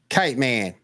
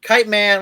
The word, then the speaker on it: Kite Man: for the first time kit man yeah I love kite man you gotta say it right kite man what is it hell